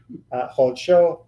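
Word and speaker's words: חדשו: So in these words, Hochma, Kol, Hofshi, Hodsho, that's a lot of chuz. That wasn't intended. All of these first kamatzes are actually kamatz-katan. They are in closed, unaccented syllables, and so they become an O sound.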